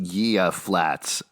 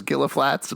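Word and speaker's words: Gila Flats: I also did not realize it was pronounced Gia Flats. I don't know if he was doing that wrong. I thought it was Gilla Flats, but I guess not.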